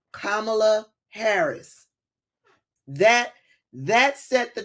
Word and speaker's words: Kamala: his looked him in the face and said kamla Harris that that set the tone right there